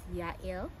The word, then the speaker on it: Jael: The only reservations I have is like, most people pronounce it Jael, and it sounds like jail, right? I think Hebrews pronounce it as Yael, but I like pronouncing it as Jael.